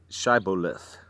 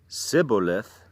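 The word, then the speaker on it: Shibboleth: no they said alright say schaible if if he said Cybil if because he could not pronounce the word correctly they seized him and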